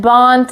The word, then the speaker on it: bont: Bomb, boss, bot, bombus, batis, and bont is pretty fun. It rhymes with the word flaunt, and although we shouldn't